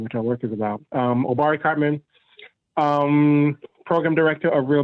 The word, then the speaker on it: Obari: I'll go with Obari. Is that how you say it? Dr. Cartman? Obari is fine, and that is right.